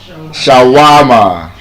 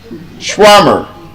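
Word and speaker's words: shawarma: How do we pronounce the word? We call it what? Shawama. Absolutely wrong. Yes. What if I told you the correct pronunciation of that word is actually schwammer. schwarmer that is a correct pronunciation and like I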